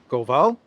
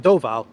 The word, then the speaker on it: Doval: I want to say his name is Goval. The national security adviser Ajit Doval Doval is going to be in Russia this week.